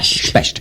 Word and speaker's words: Specht: Specht, yes. And he would correct you if you didn't pronounce it that way.